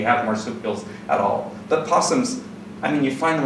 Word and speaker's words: PSSM: What you frequently hear them called is possum.